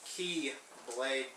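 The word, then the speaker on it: χ-blade: he's there to forge the X blade or pronounced key Blade with an X I don't know all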